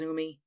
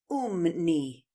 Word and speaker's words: Umney: Umi actually madam my name is pronounced Oh knee right over there in